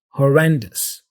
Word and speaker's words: horrendous: pronunciation here I say horrendous so the ending here this o s ending sounds like us us okay be careful not just say maybe horrendo with a o at the end but us horrendous horendous okay abysmal abysmal